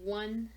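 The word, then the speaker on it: を: Generally, it's to connect one word to another. It is o, but it is often pronounced as wo, or written out that way when you write it in Romaji.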